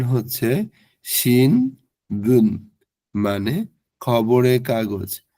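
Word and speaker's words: 新聞: শিন বুন মানে খবরে কাগজ বা সংবাদপত্র এটার উচ্চারণ হচ্ছে শিন বুন মানে খবরে কাগজ বা সংবাদপত্র এরপর ন থ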